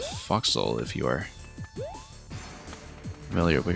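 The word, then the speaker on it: forecastle: Yeah, Netcat, you might be thinking of a for castle which is actually properly pronounced at foxhole.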